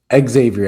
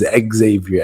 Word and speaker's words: Xavier: Remember, it's not Xavier Edwards. It's Xavier, which is kind of a thing that like that's one of the biggest things that they always pronounce because you know it's Xavier because when you say the name Xavier, you don't want to say Exavior. You know, his is Exavior Edwards. Like, that is a clear pronunciation how he wants it.